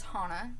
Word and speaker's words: Hana: she her name is Hana it spelled exactly like Hannah but pronounced Hana strictly for the reason